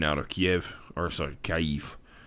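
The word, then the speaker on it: Kyiv: of kiev or sorry kaif i've learned recently that kiev is actually not the way that we pronounce kev so even if the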